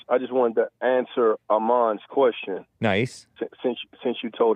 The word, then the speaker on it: Aman: Aman.